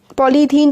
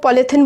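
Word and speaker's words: polythene: और जो हम लोग पॉलीथिन बोलते हैं ना जिसे, वो एक्चुअली उसका जो प्रोनाउंसिएशन होता है वो पॉलीथीन होता है ना, क्योंकि पॉली प्लस इथीन से वो बनते हैं जो डेली यूज़ करते हैं हम लोग।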